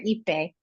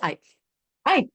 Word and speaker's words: Ipe: your last name wrong Dr I or eepe it's I I okay so Dr